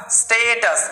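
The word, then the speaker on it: status: তো এস টি এ, এটা হবে স্টে, স্টে, টি ইউএস টাস, স্টেটাস, কিরকম উচ্চারণ হচ্ছে, স্টেটাস।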